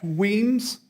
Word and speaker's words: Weems: good morning good morning my name is wiens you spell that last name w-e-e-m as a esses and steven that's weems i am a retired professional engineer with over